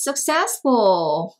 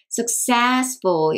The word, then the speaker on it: successful: 하나는 뭐였냐면, who is successful? 요거 발음 한번 같이 해보실까요? successful, successful, successful. 여기 accent가 오죠? successful.